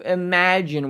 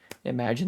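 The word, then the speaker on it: Imagen: like imagine 2 but it's spelled like image with an N on the end of I think it's pronounced imagine that would make sense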